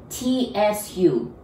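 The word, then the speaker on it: つ: And also the one after too, tsu, it's really t u sound too, but we pronounce it like t s u tsu.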